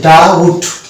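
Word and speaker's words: doubt: ও ইউ বি টি এই শব্দটাকে যদি আমরা উচ্চারণ করি টোটালটা তাহলে কিন্তু উচ্চারণ করতে পারবো কারণ এই শব্দটির উচ্চারণ হচ্ছে ডাউট প্রথম শব্দটা আমরা দেখতে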